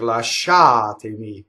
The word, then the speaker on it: Lasciatemi: or last syllable but there are words that break that like la sha to me that's the anti penultimate the second-to-last syllable and